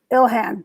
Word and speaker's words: Ilhan: omar what's her name ilan omar something ill han ilhan see there you go so ill hand